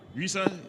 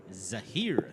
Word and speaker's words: Zahir: Here, Risa, that's it. The correct pronunciation? Zahir. Zahir, sorry, Zahir.